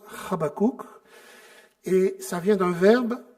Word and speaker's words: Habakkuk: Alors, pour la petite histoire, Habakkuk en hébreu, ça se prononce Habakkuk, et ça vient d'un verbe qui veut dire étreindre, embrasser amicalement.